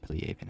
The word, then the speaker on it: Piliavin: I know that it's pronounced pleaven at all because look it up at all.